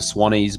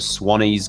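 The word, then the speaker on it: Swannies: to check out the Swan ease blue blocking glasses just go to Swan ease glasses calm Suwannee is spelled SWA n.n IES so it's Swan ease glasses calm and if you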